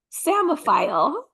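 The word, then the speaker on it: psammophile: m no there's a there's a silent letter before it so like salmon s l m P PSA m m o p h i l e samile everybody work that into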